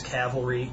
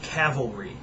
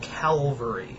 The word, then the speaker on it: cavalry: you know uh mass cavalry it's by the way if you get nothing out of this video the word is pronounced cavalry not Calvary.